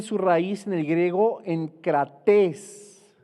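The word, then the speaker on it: ἐγκρατής: Y esta palabra también tiene su raíz en el griego enkrates, con K y con acento en la I, que significa dueño de nosotros mismos, dueño de nosotros mismos.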